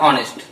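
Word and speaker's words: honest: अब यहाँ पे देखिए यच भले पहले लिखा लेकिन इसका उच्चारण क्या होगा, इसका उच्चारण होता है ऑनेस्ट।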